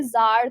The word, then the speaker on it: czar: जैसे हमने किसी दिन एक पैसेज पढ़ा था जिसमें जार था, CZAR, तो उसमें सी साइलेंट था.